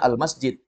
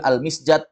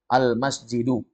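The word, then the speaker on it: المسجد: kita sudah tahu misalnya ada tulisan Alif Lam Mim Sin Jim dal bacanya almasjid Ya kan enggak mungkin almisjad almusjud pasti bacanya almasjidu Ya kan begitulah jadi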